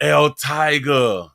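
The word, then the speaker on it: El Taiger: NBC 6 reporter Christian El Tiger, but they spell it T A I G.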